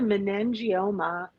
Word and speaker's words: meningioma: you found out about her having the, now pronounce that again for me because that was a very, Right. It's called a meningioma.